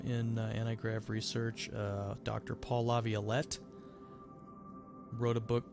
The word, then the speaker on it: Laviolette: If you just look up Paul Laviolette, it's like Violet, Violette, La Violette.